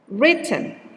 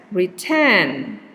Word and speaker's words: written: no money no money or this one written okay if you pronounce it as return it might be heard by other people as retain and the secondary okay